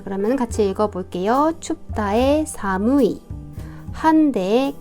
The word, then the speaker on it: 寒い: 주면이 아이가 오한에 해당하는 말로 일본 발음도 비슷해요 칸이라고 읽어요 자 그러면 같이 읽어 볼게요 춥다 사무이 한대 간타이 온데 온타이 그다음에 한기의 카키 추위를